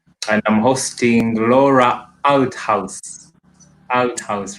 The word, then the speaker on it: Althaus: Althaus, right? Very well pronounced.